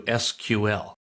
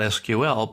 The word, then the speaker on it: SQL: is an introduction to SQL now what is SQL well it's an abbreviation standing for structured query language it's generally pronounced not SQL but SQL is the normal way we say it what it is